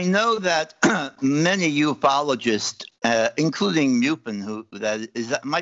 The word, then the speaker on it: MUFON: I know that many ufologists, including Muffin, who that is, am I pronouncing that right, Muffin, or is it Muffin? Muffin. MUFON.